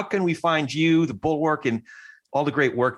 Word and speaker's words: Bulwark: people, it's funny, like people think it's Bulwark. Well, hopefully it's not bull. It certainly is work. But the Bulwark, for those who don't know, is spelled BULWARK. So one L and it's an A instead of an O, and it's all one word.